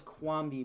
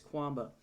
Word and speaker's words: Quamba: I actually looked that one up today because I thought it was Quambi, but it's Quamba.